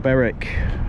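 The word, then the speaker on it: Berwick: end is in sight beric and i do apologize i've mispronounced any names uh i didn't realize w was silent until phil reminded me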